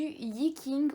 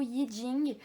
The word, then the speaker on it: Yi King: donc pour faire la vidéo de présentation du iiie king ou yi jing selon la prononciation donc à la française ou alarmants darién